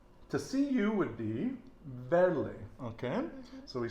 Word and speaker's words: verle: And I'm still practicing my V's, which are pronounced like a B, so verle, and I tend to